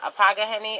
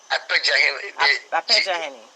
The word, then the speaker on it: Apejaheni: The Apagaheni of Asebu. How do you say it? Apejaheni. Yeah, it's like a J, like a John.